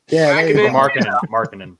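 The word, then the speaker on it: Markkanen: Their Lauren Makinen. Markkinen.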